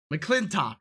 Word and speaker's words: McClintock: a surprise one tom mclaughlik the clock click mcclintock the clinton that's how you say it mcclintock